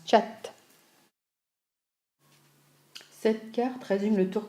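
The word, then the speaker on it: kyat: conduire manille la monnaie et le 4 on prononce chat cette carte régime le tour que nous avons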